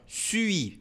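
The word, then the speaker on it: suis: né devagar não su olha aqui ó sui faz o biquinho e depois pronuncia o i normal J sui desol três biquinhos ne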